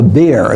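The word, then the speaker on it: bier: on what we would call a beer that's what b-i-e-r I think is where you spell it uh a rather firm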